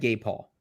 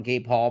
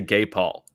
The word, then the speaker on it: Gabe Hall: Is there a different way to say Gabe Hall? It's just funny. How would you say it? Say his name. Gabe Hall. And I said Gabe Hall.